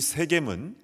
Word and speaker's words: 세겜: 왼쪽에 있는 산이 그리심산, 오른쪽에 있는 산이 에발산이고요, 두 산 사이에 있는 도시가 바로 그 유명한 세겜입니다. 현지에서는 쉐켐이라고 발음하는데요, 이 세겜은 교통의 요충지이고 아브라함이 가나안 땅에 와서 가장 먼저 제단을 쌓은 그런 기념비적인 장소입니다.